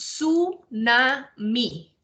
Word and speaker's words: tsunami: origin of the name the word tsunami is pronounced su na mi it originates from two